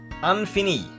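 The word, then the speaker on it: ɛ̃fini: Next, now, the Infini. That's how they pronounce it. That's how Mazda pronounce it, the Infini.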